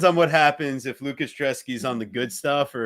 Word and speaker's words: Brzeski: It's Drezeski. It's a B that's a D.